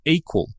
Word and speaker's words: EQL: My guest today is Andrew Lip, CEO and co-founder of Equal. That's EQL pronounced equal.